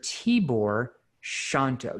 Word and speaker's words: Tibor Shanto: to the show mr t-bor shanto t-board did i pronounce your name right you absolutely did you nailed it thank you you